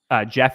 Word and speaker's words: Geoff: His name is Jeff is spelled GEOFF, and then it's ZOCHODNE.